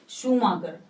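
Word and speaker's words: Schumacher: तो इसकी लेखक है शूमाकर ने कि शूमाकर इंग्लिश में इसकी स्पेलिंग थोड़ी कंफ्यूज है तो बच्चे इसको गलतफहमी सेट कर देते हैं उसका सही पेंशन है शूमाकर ने से अंतरराष्ट्रीय स्तर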